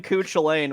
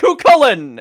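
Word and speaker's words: Cú Chulainn: __ ] Cen chain I kept calling him coo chain when I was like playing P4 many [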